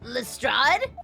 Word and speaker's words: Lestrade: Thinking back now, you left with Miss Lestrade in tow, didn't you?